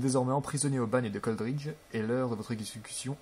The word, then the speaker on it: Coldridge: Donc voilà, donc on est au bagne de Coldridge. Ouais, ça se prononce comme ça plutôt.